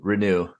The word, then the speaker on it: Reneau: I think apparently it's supposed to be Reneau.